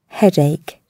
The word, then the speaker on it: headache: Обратите внимание, что ударение в слове «головная боль» падает на первый слог. Headache.